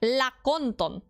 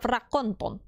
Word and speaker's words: rakonton: Still with the R though. Lakonton instead of rakonton.